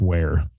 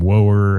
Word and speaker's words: Ware: I was calling him Chris, and he didn't even notice, I don't think, because I always said his last name wrong. It's Ware. But I called him Woer and all kinds of stuff.